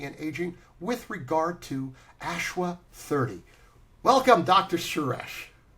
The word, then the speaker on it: Ashwa.30: Is it Ashwa.30 or just Ashwa 30? It's Ashwa 30. We kept the dot for for for branding purpose.